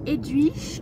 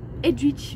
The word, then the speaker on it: Edwige: On voit ici Edwige qui vole.